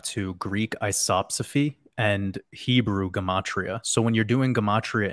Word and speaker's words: Gematria: So I'm, when you're dealing with cycles, because you mentioned the Jewish calendar, the Shemitah, the Gematria, and I hope, you know, I know I was like, how is, am I saying it correctly?